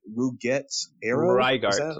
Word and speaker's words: Rygart: oh man, his name is so hard to pronounce for me, but it's like Ruget Arrow. Is that Rygart. right? Rygart. Rygart, yes, Rygart Arrow.